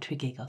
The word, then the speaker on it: Tregeagle: will also note that triagle is spelled and pronounced differently at different times I'm going to call it triagle throughout final note before